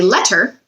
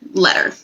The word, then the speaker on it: letter: And when we say it quickly, notice better and letter almost sound like they have d sounds in the middle. That's because when we talk quickly, our consonant sounds sometimes come out a little bit fuzzy, I like to say. So if we really slow down and say letter, then we can hear those T's.